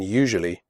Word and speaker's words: usually: The first U in usually is pronounced like the word you. The S is pronounced like je in television.